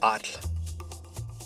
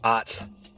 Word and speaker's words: atl: atl You'd spell that a t l. atl And you have to say the t and the l pretty much simultaneously. It's kind of a weird position of your tongue, but get used to